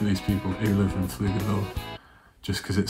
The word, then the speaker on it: Pflugerville: It's like a P, F at the start and L, so it's like Pflugerville. I think that the P is the only thing about this that's confusing. And that's the thing that you would stumble on. I believe the P is silent, and I think it's pronounced Pflugerville. Pflugerville, Texas.